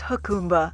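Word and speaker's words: Jacumba: it pronounced Akuma I think it's pronounced huh khumba yes it's definitely pronounced huh khumba and it means look at the water in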